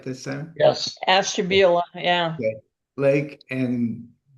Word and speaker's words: Ashtabula: Grand River Valley AVA spreads across portions of Astabula. That's it, right? This time? Yes. Ashtabula, yeah.